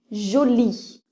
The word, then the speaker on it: Jolie: on écrit son nom jolie joli vous voyez le E n'est pas prononcé prenons le mot petit